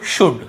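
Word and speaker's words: should: रहे क्यों क्योंकि सॉरी एल को नहीं पढ़ रहे क्यों क्योंकि वो डी के पहले है डी के पहले यदि एल है तो हमें उसे नहीं पढ़ना है कुड वल्ड शुल्ड नहीं पढ़ना है केवल कुड वु ड शु ड कुड वुड शुड यहां पे एल का रोल ही नहीं है कुड वुड शुड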